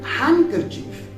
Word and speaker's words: handkerchief: When you pronounce first N, you don't need to pronounce D then. So you will say handkerchief.